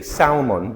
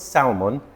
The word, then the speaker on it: salmon: Salmon. A lot of people say salmon because it has an L in it, but the L is silent. It's not salmon.